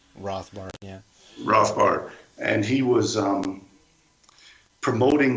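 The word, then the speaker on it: Rothbard: libertarian named Murray Ro I don't know how Americans say it Germans would say rothbart yeah rothbart and he was um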